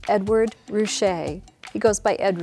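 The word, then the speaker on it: Ruscha: might call emerging artist he actually had business cards printed with his name spelled out phonetically Edward Rouse so that people would know exactly how to pronounce it Ed ret defies easy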